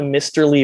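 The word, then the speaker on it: Mysterly: it uh down the misterly river with an l mr lee uh what spelled like mystery and uh no really good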